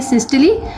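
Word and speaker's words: systole: उन फेस का नाम है एक एक को हम कहते हैं सिस्टली और दूसरे को हम कहते हैं डायस्टली।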